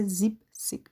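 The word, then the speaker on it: siebzig: میشه ۶۰ ۷۰ میشه زیب سیک ببینید با ه دوباره زیبن نگفته زیبن میشه ه برا کهه بهتر تلفظ بشه گفته زیب سیک اخ که میشه ۹۰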